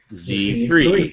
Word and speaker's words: Z3: See, for that I prefer the Z because it rhymes with 3. Z3.